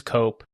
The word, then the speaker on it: Cope: This is cope rhymes with pope.